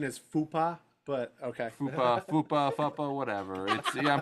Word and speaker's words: FUPA: Chris, I think the Grossi- correct pronunciation is Fupa, but okay.